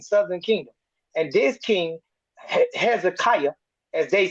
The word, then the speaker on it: Hezekiah: And this king, Hezekiah, as they said, but I like the way you said Ezekiel, but it's to the English speaking people, you might want to pronounce it this way so they'll all know who you're talking about.